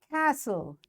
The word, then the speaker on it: castle: Castle. T is silent.